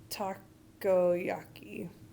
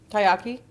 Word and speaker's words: takoyaki: And then they have takoyaki. Taiyaki? No, there's another syllable in the middle.